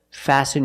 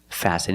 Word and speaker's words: fasten: listen and fasten example fasten your seat belt fasten is a verb and the t is silent you need to fasten